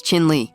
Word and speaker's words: Chin Lee: Chinli grabbed his hand, crushed it, showed he wasn't a pushover, and made it clear, "Say my name right, it's Chin Lee."